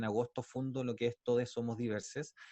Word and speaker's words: Todxs Somos Diversxs: fundó lo que es todos somos diversas se escribe con x pero nosotros al decirlo lo hacemos con un lenguaje inclusivo es por lo tanto es todos somos diversas y es una organización